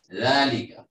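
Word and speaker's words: ذلك: জালিকা মসজিদ, জালিকা দুই ভাবেই লেখা যায়, আলিফ দিয়েও লেখা যায়, না দিয়েও লেখা যায়, উচ্চারণ হবে জালিকা, হাযা এক আলিফ টান হবে, মসজিদ এখানে খবর, জালিকা মুক্তাদা।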